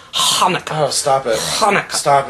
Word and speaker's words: Hanukkah: not a CH sound it's not an H sound it's Hanukah oh stop it Hanah